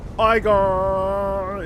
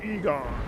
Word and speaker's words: Igon: you need to like preserve not right here igon it's pronounced Egon okay so I think this is the wrong